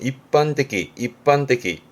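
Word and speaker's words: 一般的: 일반적, 발음은 입반떼기.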